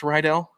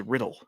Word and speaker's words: Riddell: Is it pronounced Rydell? Yeah. I thought it was Riddle or Riddell. Are you screwing with me? No. I never thought it was a hard I.